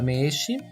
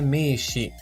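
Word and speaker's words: 名刺: Quanto à pronúncia da palavra meshi, também é um prolongamento do som do e da primeira sílaba me. No entanto, o hiragana usado na escrita é o i, mas a pronúncia é meshi.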